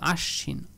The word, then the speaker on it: আশ্বিন: আমরা দুইবার উচ্চারণ করব হ্যাঁ বফালাটা যুক্ত হয়েছে স এর সাথে ওই স টাকে দুইবার বলবো আশ্বিন এখানে দফা বফালাটা যুক্ত